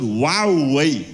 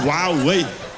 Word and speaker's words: Huawei: hu my Hua yeah that's how you pronounce it yeah I didn't know you pronounce it w way yeah I know you spell it h but you pronounce it wow way Riad Riad you always